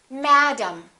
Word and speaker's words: madam: vowel is reduced madam look at the e m of the word problem the first syllable is stressed and the e m will sound exactly the same as the am of the word madam listen madam problem this